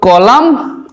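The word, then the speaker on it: column: তো কলাম উচ্চারণটার সঙ্গে কিন্তু এন থাকছেই না, অর্থাৎ ময়ে শেষ হচ্ছে কলাম, তাই এখানে এন কিন্তু এক্সট্রা রয়ে যাচ্ছে কিন্তু উচ্চারিত হচ্ছে না।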